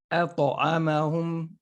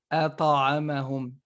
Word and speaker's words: أطعمهم: Surah Quraysh, الذي أطعمهم أطعمهم. Okay, so you say it not أطعمهم. It's not fatha, right? I tried to close it and it just automatically bounces back.